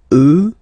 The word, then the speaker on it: eux: you get the sound remember, final X not pronounced, and then plural elle, elle. Okay, so let's see them one more time. Moi, toi, lui, elle, nous, vous, eux, elle.